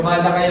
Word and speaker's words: Malachi: palitan ng pangalan ninyo, Malachi, Malachi. Pero Malachi ang pronunciation niya.